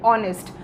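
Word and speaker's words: honest: होते हैं जैसे की ऑनेस्ट लेकिन इस ऑनेस्ट वर्ड में जो ह लेटर है वो होता है साइलेंट इसलिए हम उसे पहले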